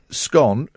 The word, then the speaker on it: scone: also revealed they the preferred way to say scone rhymes with gone goodness sakes a spokesman